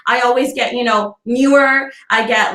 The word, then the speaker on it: Noor: it's not difficult right like my name is newer it's not difficult i always get you know newer i get like i just all across the